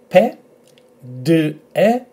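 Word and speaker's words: πέντε: So emphasis on this e, p, e, pe, d, e, pede, pede, pede.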